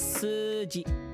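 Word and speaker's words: 数字: Remember, this is su, right? And then because it's a u sound at the end, and then this is u, the u gets extended. So this is suji.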